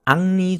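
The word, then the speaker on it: Henri: 근데이 사람이 프랑스 사람이기 때문에 프랑스에서는 H가 발음이 되지 않기 때문에 햄리라고 발음하지 않고 악리 정도로 발음합니다.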